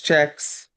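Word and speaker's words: cheques: Uh I don't know how to pronounce this word. It's c h e q u e s. It's checks. All right. Got it right. It's a fancy way of writing it.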